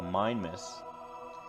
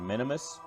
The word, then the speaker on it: Minimus: to fly it to Minimus, or Minimus. Minimus, I've heard it pronounced both ways.